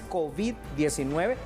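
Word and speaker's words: COVID: hobbit 19 por cierto la pronunciación correcta es kobe 19 para nosotros que hablamos castilla porque he escuchado que muchas personas dicen kobe pero no tiene acento en lado entonces kobe 19 haciendo entonces una cuestión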